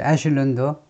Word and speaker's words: echelon: of his top echelon, 이 CH를요, 쉬라고 발음하는 것은 전부 프랑스어에서 나온 겁니다. 이 게르만족 원래 영어식 발음은 크지요. 그러니까 치킨이고, 그 다음에 시크라든가 샴페인, CH가 쉬 발음을 내면 전부 다 프랑스어예요. 그래서 에슐런도 프랑스어고 사다리란 말입니다.